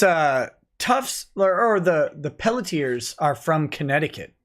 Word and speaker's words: Pelletier: r and see now someone's saying the rn pelletier is silent but i don't think it is they can shut their horror mouth it's like one of the few french words like french names where the r isn't silent at the end of